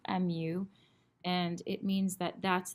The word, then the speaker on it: mu: of your graph is it's a Greek symbol it's pronounced mu mu and it means that